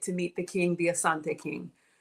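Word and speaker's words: Asante: meet the king the Assante King you probably pronounce it Ashanti but if it's on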